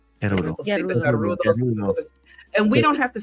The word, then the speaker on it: Gerudo: And we can actually say it that way because that's really in my mind how it's pronounced. We're gonna go to the Garudo. Gerudo.